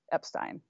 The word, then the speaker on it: Epstein: but so Henry Epstein nephew of Brian says Brian pronounced it Epstein I don't know what